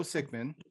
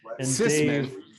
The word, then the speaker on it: Cicman: and congratulations today for convincing everyone that my name is sick man it's pronounced system and dave spent a year telling everyone that it was sigmund which is very very funny